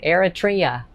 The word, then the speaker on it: Eritrea: had to look how to spell how to pronounce it eritrea eritrea so if you know anything about eritrea